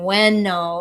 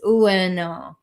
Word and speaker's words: Ueno: And until I saw that written, I was saying bueno, and some people don't always catch what I'm saying, and it's ueno.